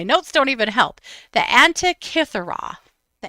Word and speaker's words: Antikythera: But I'm going to look at my notes so that I pronounce it correctly. This is the. Sometimes my notes don't even help. The Antikythera. The Antikythera.